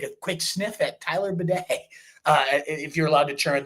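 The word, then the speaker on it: Badie: In terms of the other backs, Tyler Beatty's been the next one. Beatty, I don't even know. Bidet, I think, is actually how he asked for people to pronounce it.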